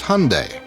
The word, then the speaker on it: Hyundai: during the Super Bowl it's Hyundai like Sunday we hear Hyundai Hyundai even my mom mispronounces it unfort what she say she uses Hyundai Hyundai's Cinderella story has